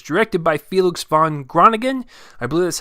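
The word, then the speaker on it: Felix van Groeningen: comes from Amazon Studios and it's directed by felix von grana ghen i blue that's how you pronounce it and it stars timothy sha'lame as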